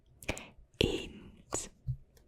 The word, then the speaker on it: eend: Eend.